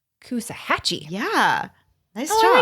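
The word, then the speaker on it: Coosawhatchie: yeah yeah so uh just take out the W and you have it Kusa hatchee yeah nice job I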